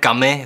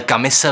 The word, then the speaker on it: Camus: Hnedka na začátek ujasním, hledal jsem si to a skutečně se to vyslovuje Camus v prvním pádě, ale Camise ve druhém pádě.